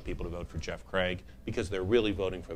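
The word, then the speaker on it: Cragg: on CRA it's that Craig you know it's it's it sounds just like you spelled it right but you got to spell it wrong it's c r a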